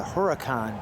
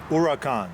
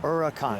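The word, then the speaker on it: Huracán: And I appreciate that, because I thought it was the Huracan, but it's say it again. Huracan. Huracan. Yeah. That's the correct way to say it. Correct. Yeah, the H is silent.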